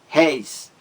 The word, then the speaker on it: réis: É o que temos aí em véu, também réis, 1000 réis, 10.000 réis, réis. Você tem aí o ditongo aberto, ei, de réis, ei.